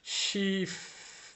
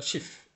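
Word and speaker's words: Schiff: বা ফ্লুস এটা থাকবে এটা ছোট করে বলতে হবে এটা শিফ বললে হবে না এটা শিফ এরকম ভাবে বলতে হবে তারপর ফ্লুস ছোট করে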